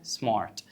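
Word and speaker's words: smart: هنحصل فيها ايه بالظبط هنخففها هنقولها بالراحه يعني هنا ايه النطق الصح ان انا اقول لك سمارت ولا سمارت سمارت بالراحه هتبقى سمارت خلاص ليه بقى هننطق الار خفيفه عشان قبلها في حتى انت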